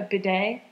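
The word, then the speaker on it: bidet: a bedet just so a Beday yeah that's how you say it I said bday yeah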